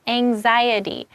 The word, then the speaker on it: anxiety: So it's anxiety. So it's kind of like you might be worried about the X, but try to say it like anxiety.